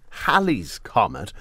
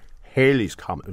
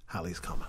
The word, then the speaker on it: Halley's Comet: The double L does pronounce it as Halley's Comet.